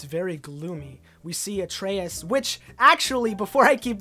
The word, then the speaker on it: Atreus: out to me that the son's name is pronounced Atreus. All throughout my last video for the E3 2017 trailer, I was saying Atreus, but it's actually pronounced Atreus.